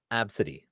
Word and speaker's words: Abcde: Yes, because it's pronounced absidy. ABCDE, pronounced Absidy.